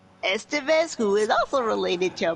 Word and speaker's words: Estevez: Loaded Weapon, with Emilio I can never pronounce his last name. Estevez, who is also related to Martin and Charlie Sheen.